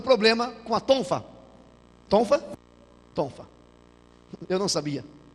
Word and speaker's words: tonfa: Tonfa. É essa a pronúncia, tonfa.